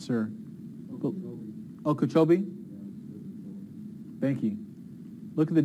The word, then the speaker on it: Okeechobee: that be I'm not sir Okeechobee thank you look at the difference there it's